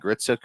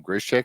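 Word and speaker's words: Gritsyuk: He's not really nailing Arseny Gritsuk right now, but he keeps calling him Grishik.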